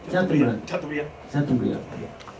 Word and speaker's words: Chateaubriand: cuando él leyó a Chateaubriand, ¿cómo que se pronuncia? Chateaubriand.